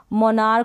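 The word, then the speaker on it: monarch: फिर है स्कूल, फिर है स्टमक हो गया, मोनार्क हो गया, मोनार्क। और इनमें क्या करनी है? आपको प्रैक्टिस करनी है। यहाँ पर इन सारी स्पेलिंग्स में आप CH को क पढ़ रहे हैं, इनकी प्रैक्टिस कर ले।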